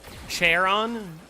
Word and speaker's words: Charon: Charon? I don't think you pronounce it with a ch sound. I think it's a k.